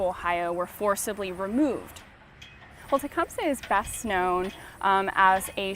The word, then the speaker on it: Tecumseh: We always grew up knowing him as Tecumseh, and that's really the way that English speakers came to know him.